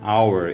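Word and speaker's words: hour: মনে রাখতে হবে এটার উচ্চারণ হাওয়ার হয় না, এটা উচ্চারণ হচ্ছে আওয়ার। এখানে এইচের উচ্চারণটা অ্যাকচুয়ালি উজ্জ থাকে, এইচের উচ্চারণটা হয় না, কেমন?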